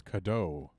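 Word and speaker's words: Cadou: ] yet ending recording so it's kado I've been pronouncing it wrong this whole time oh a long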